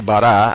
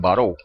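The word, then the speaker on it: ברא: Fíjense la palabra eh creó dice en hebreo dice bará, aunque algunos lo pronuncian varó. el autor de que les mencioné al principio, eh, Morjayeri, la pronuncia varó.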